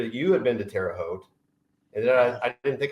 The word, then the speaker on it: Terre Haute: Did Did we get a little bit right about Teroot? Did we say it right? It's it's teroot. So when people come into the show or come into the shop and say Terry hot or terra hoot, I know that from out from out of town.